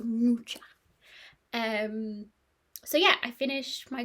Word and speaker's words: Mucha: I did look up how to pronounce it. It is Mucha. Apparently, well, Google says it is. So Mucha.